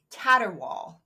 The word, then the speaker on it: caterwaul: はい What animal makes the loud caterwaul?